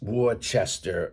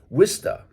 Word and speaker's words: Worcester: But it's not pronounced Worcester or Worcester or Worcester, none of those. It's pronounced Worcester, okay? And so you have to take the O and more or less make it an I, drop the R in the middle, and drop the ER